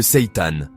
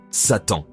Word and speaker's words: seitan: Le Seitan. Oui, cela se prononce comme Satan.